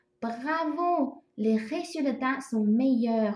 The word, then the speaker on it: meilleurs: 这个 meilleurs 加了 s 哈，这个 s 不用发音哦。